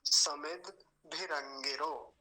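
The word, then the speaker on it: समिद्भिरङ्गिरो: जैसे भ आधा हो और द पूरा हो, लेकिन द वहां पर यानी दकार जो है वो तो आधा है और भकार जो है वो पूरा है। तो समिद, समिद पर थोड़ा सा रुकेंगे।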